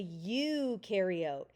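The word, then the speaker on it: eukaryote: It is a ukareote. You do. You rhymes with do have a nucleus.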